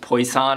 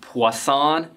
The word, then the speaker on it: Poisson: it's actually not pronounced place on it's pronounced Poisson it's French named after a French guy from the 1800s